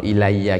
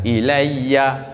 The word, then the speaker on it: إِلَيَّ: Niki jenengan nak maca, nak ono ilayya gini, kalau pas waqaf maca ilay gitu bacanya. Kalau waqaf. Jadi pas ya begitu, itu bacanya jangan ilayya pas waqaf, tidak boleh. Bacanya ilay.